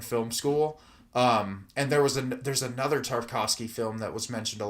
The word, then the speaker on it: Tarkovsky: There's also a movie, I haven't seen it, but it's a film by Tchaikovsky. Is that how you pronounce his name? Tarkovsky? Tarkovsky, yeah, where he actually like set the horses on fire.